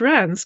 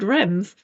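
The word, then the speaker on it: Reims: And I got help from a friend of mine who's been there on how to pronounce Rams, because otherwise I would have said Rems, and I'd have been wrong.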